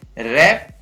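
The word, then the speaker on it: wrap: इसी प्रकार WR से शुरू होता है तो उसमें भी W का उच्चारण नहीं होता है, तो इसको पढ़ेंगे रैप, wrong, wrist, wrinkle, ring.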